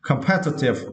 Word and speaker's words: competitive: For this word, you need to stress the second syllable pair. Okay, competitive.